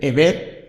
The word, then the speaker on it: Heber: raticos a la tercera he aprendido Cómo se pronuncia tu nombre Ever ha sido rido everlo cas eso es estoy